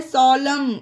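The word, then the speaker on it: solemn: ध्यान रखनी है कि वर्ल्ड के लास्ट में एम के बाद एन हो तो वहां पर एन को साइलेंट करिएगा ओके ऑटम पढ़ा गया इसे उसी तरह से यह है सोलम एम के बाद एन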